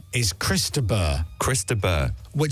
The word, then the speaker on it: Chris de Burgh: Chris de Burgh. Chris de Burgh, right? Or Chris de Burgh, Or Chris of the because you Burgh. don't pronounce the G. That's it, Chris de Burgh.